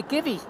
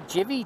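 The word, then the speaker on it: Givi: and it's a it's a Givy or a Jivvy, depending on where you come from and how you prefer to pronounce it. I prefer to call it Givy. I think in the States, they probably call it a Jivvy.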